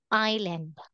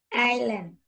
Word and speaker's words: island: want you to say island island very good so island the letter s is silent How about number nine